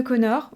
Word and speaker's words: Conchobar: On a notamment le mythe de Connor. Oui, rappelez-vous, ça s'écrit Conchobar.